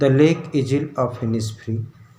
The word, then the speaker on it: Innisfree: अब इनिस्फ्री का उच्चारण, प्रोनाउंसिएशन हनी बी जैसा है, जो तीसरी लाइन का लास्ट वर्ड है, इनिस्फ्री विथ हनी बी।